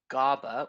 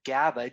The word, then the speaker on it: GABA: big mouthful of words often times it's pronounced gaba or gaba gaba is something that